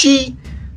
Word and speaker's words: Qi: This allows the Qi (pronounced Chee) to sink below to the dantien (acupoint a few centimetres below the navel).